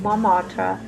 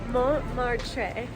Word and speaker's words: Montmartre: What if Montmartre? No. She's going to say it from now on. We're in the 9th arrondissement. Not the first T. Yeah, not the first T.